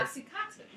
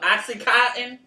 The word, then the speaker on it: oxytocin: oxytocin. The oxytocin. How do you pronounce this? I don't know. Oxycontin? Oxycontin is a drug.